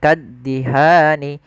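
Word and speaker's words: كَالدِّهَانِ: Kemudian lafal kaddihan tekan di huruf da-nya, kaddihan.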